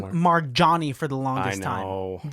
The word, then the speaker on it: Marjonni: she, And so how is it officially said? Marjonni. You said it right. Marjani.